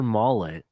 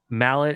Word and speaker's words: Maulet: The Steelers have informed veteran cornerback Arthur Maulet, I think is how you say his last name. Mallet, is it Mallet? Maulet Color.